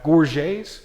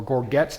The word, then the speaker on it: gorget: throat and Talon's throat we have Gores or gorgets depending on how you want to pronounce them these are replacements for